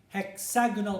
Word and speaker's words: hexagonal: say that again go hexagonal prism so the stress on the first and second syllables okay now we have